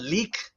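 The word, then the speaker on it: lík: the physical body um and it's spelled l-i-k the dash over the I which makes it a long e sound uh there's the EK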